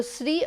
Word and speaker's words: Sri: gangadhar or SRI gangadhar so SRI or Shri both can be pronounced and both are correct and both will be understood by the native speakers so ah these are